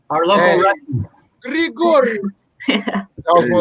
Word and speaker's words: Grigorieff: Ashley Thiner, Grigorieff. Yeah. I said it right. Our local wrestling. Grigorieff.